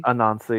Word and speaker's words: Anansi: Anansi. Uh why is the second N not pronounced? Um, it is a non like the bread non non.